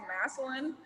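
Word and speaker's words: Massillon: that's what pops into my head it's actually pronounced maslin but it's people people mess it up all the time so messalin okay now jackson high school right so i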